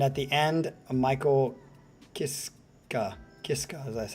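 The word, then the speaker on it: Michael Kiske: It's sung by Tobias Sammit, Sharon Den and Adele within Temptation, and at the end, Michael Kisa Kiska, that's how you say it.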